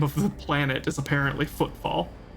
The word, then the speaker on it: Footfall: No, Footfall. I am just kind of running through it. The name of the planet is apparently Footfall. But I just wasn't putting a ton of emphasis on the second F, admittedly.